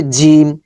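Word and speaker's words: جيم: জিম জিম জিম এটা শক্ত sound হবে জিম এটার মাখরাজ আমরা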